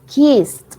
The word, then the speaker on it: kissed: And then kissed. Cuando tenemos como la doble S después de en un verbo al final, pronunciamos esta ed como una T. Kissed.